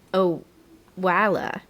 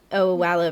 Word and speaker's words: Owala: Well, I I'm in Oh, it's actually I had to Google the pronunciation um before we started this. It's I believe oala.